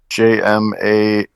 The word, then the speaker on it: Jamahal: Was it against Jamal Hill? Oh, it sure was, sir. I assume that's how you pronounce Jamahal.